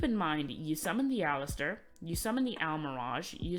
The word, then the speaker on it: Aleister: And I just want to say, before we keep going, it's pronounced Aleister, not Aleister. It makes me so sad to see people pronouncing it Aleister. It's Aleister.